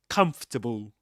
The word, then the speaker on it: comfortable: And this word reminds me a lot of the pronunciation of another word comfortable, you know, because both in writing in spelling you'll see you see four syllables, right? So you say so you see you see four syllables in writing don't you? But you don't say vegetable and you don't say comfortable. You say comfortable.